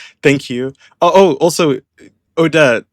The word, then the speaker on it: Odette: Oh oh also Odette, how do you say her name? Is is it Odette? Well, if you look at the ballet, it's Odette. But in English just Just say Odette.